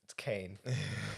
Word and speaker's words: Caine: Michael Caine, as Jason so lovingly first pronounced him. He was like, let's just run through him. Michael Caine. It's Caine.